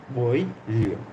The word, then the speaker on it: Boileau: Boileau.